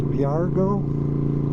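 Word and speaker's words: Virago: It's a 93 Yamaha, I think it's pronounced Viargo 535.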